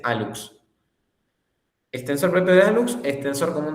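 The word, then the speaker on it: hallux: El alux se le llama al primer dedo, al dedo gordo del pie, se le llama alux y se escribe con hlux, pero se dice alux.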